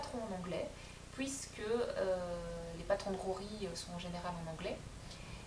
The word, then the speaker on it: Joji: Je me suis dit, bah oui, ça se prononce, les J se prononcent comme ça. Donc voilà. Donc je me rattrape sur ce podcast-ci, et je vous dis, donc c'est Rory Locatelli.